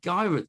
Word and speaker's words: Gyarados: How in the world do I get my Gyarados? Is it Gyarados? Did I pronounce that right?